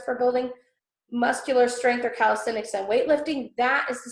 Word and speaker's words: calisthenics: Calisthenics. Calisthenics.